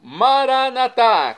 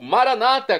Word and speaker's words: Maranata: E agora eu clamo, Maranatá, como dizemos nós católicos, ou Maranata, como dizem nossos irmãos separados, os evangélicos ou protestantes. Não importa a pronúncia, o significado é o mesmo.